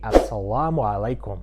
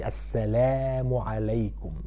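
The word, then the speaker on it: السلام عليكم: The L in English is different from the lam in Arabic. That's why when everybody's greeting me, he's saying Assalamu alaikum. And that's not how we say it. We say Assalamu alaikum. La, not la. La.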